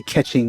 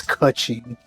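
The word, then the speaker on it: Keqing: Also, I keep mispronouncing her name, and I've never stopped. I say Catching when it's Kuching.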